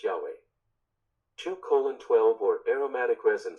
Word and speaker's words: Yahweh: translation of godess proper name Hebrew you usually pronounced Yahweh 2on 12 or aromatic resin section 2on 18